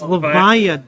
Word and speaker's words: Levia: it's Levia, dang it! How does no one say it properly?